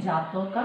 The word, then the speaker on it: জাতক: পালি উচ্চারণ হচ্ছে জাতকা, ইন বাংলা জাতক।